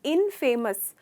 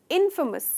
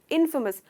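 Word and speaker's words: infamous: तो दोस्तों इसमें जनरली मैंने देखा है इसको टुकड़े कैसे करते हैं, इनफेमस, इनफेमस कहते हैं, पर इसका करेक्ट प्रोनाउंसिएशन है इनफेमस, इनफेमस। तो फे नहीं है, फ का साउंड है, इनफेमस। इसमें आप स्ट्रेस करते हो इन पर।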